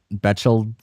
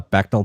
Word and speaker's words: Bechdel: We were passing the vegetal. Oh whoa! I can't read. Pronunciation. Bechtel. Okay, thank you, internet. We were passing the Bechdel test and advancing none of the plot.